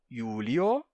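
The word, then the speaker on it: Iulio: mas simplesmente a então AB com o nome ã Julius ficaria no no caso ablativo ficaria AB yulio Mas você pode pronunciar aulio tirando o b por quê Porque o i inicial de Julius ou nesse caso yulio é consoante e é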